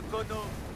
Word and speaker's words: Kono: Le Kono, ça s'écrit comment, ça? K-O-N-O, comme ça se prononce.